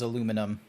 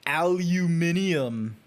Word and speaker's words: aluminum: Let's see how his TTS bot says aluminum. Okay. Aluminum. Yeah, there we go. You said it right. Because, like, Australians are like, aluminium.